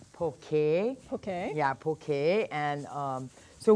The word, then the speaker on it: poke: So first of all, I noticed that a lot of people in the mainland pronounce it poke. It's poke.